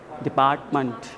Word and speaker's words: department: Generally मैंने बताया था ये जो मैंट है इसको मैंट ना बोलकर मंट, मंट, डिपार्टमेंट, डिपार्टमेंट, डिपार्टमेंट ऑफ डिपार्टमेंट, ठीक है.